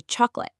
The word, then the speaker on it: chocolate: Or the middle O in chocolate. We say chocolate.